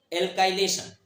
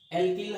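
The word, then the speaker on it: alkyl: इसमें benzene एल्किल halide को लेते हैं, या एल्काइल हैलाइड, आप जो भी प्रोनाउंसिएट करते हो, एल्काइल हैलाइड को लेते हैं।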